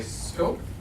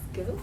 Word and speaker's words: SCOP: As in the producer's scope office. Okay. Wait, it's pronounced scoop? It is pronounced scope.